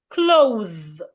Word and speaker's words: clothe: Put your tongue in between your teeth and make vibration.